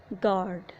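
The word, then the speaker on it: guard: किसी वर्ड में यू के बाद ई या ए आए तो यू साइलेंट होगा। For example गार्ड।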